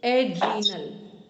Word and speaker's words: adrenal: इसको प्रोनाउंसिएशन ठीक करेंगे शीतल जी, एड्रीनल, एड रीनल ग्लैंड, ठीक, एड्रीनल, हाँ ठीक है, ये है।